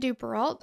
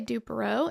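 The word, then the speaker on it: Duperrault: get into it um Tori said dupal I'm gonna say Dupo and we're going to cover both pronunciations so that will minimize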